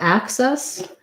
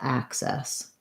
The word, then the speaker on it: access: For access, again, first syllable stress with a vowel a, like black cat, same K sound, but I would say it has more of the ac being the first syllable and ses being the second syllable. So I think that one has the red tent vowel, access.